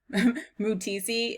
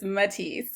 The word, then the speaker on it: Matisse: buy his creations okay so i've been pronouncing this as mutisi it's matisse i just realized um